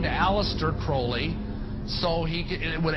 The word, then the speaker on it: Crowley: about with Alistair Crawley he likes to bring have his name pronounced Crowley to rhyme with holy and the satanists today